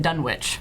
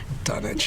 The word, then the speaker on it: Dunwich: Of course, this is also from the person who pronounces it Dunwich. Oh, come on. Oh. That's because that's how it's pronounced. Dunnage.